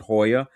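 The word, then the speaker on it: JOYÀ: Um they have a cirtole in like down there called Hoya or Joya but they pronounce it Hoya and it has if you want to you can do like the dinner and the show experience.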